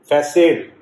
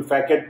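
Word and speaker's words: façade: इसको फैकेड भी बोल सकते हैं, फैसेड भी बोलता है। फैसेड, एग्जैक्ट प्रोनाउंसिएशन इज फैसेड, लेकिन कोई फैकेट पढ़ देगा गलती से, वो भी देखना आपने।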